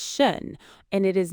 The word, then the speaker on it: schön: Oh, Max, you said shern. I thought that was how you say it. S H O with the dots N. Shern. That's what is shun. The word is shun and it is not shern.